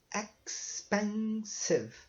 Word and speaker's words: expensive: Mas vejam bem que o E no final de palavra ele não é pronunciado. Então, aqui ficou só sieve. Então, expensive, tá? 3 syllables.